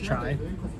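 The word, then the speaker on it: çay: So this is Turkish chai. It's tea is pronounced as chai in Turkey, and I know in America everybody thinks chai tea.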